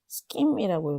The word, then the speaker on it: scheme: 어떻게 읽냐면 scheme이라고 읽어야 돼요.